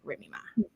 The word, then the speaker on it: Remy Ma: Remy Ma.